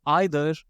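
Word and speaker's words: either: इसके बारे में तो आई एम श्योर आप सबको पता है कि आप इसे ईदर पढ़िए या फिर आइदर, ये दोनों ही करेक्ट हैं। Once again, ईदर एंड आइदर दोनों करेक्ट हैं।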